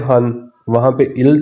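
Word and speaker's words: 한: तो वन को pure Korean में कहते हैं हन वहां पर इल था साइन कोरियन में यहां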